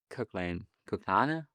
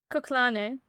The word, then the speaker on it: Kuklane: and Rafaela Ferreira crashed with a guy called Kuklana? I don't know how you pronounce it. Kuklane.